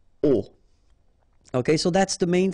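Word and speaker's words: aux: at all, and then à plus les will become o, A-U-X, but then remember that phonetically it's o.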